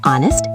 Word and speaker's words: honest: Honest, the H is silent. Sounds like honest.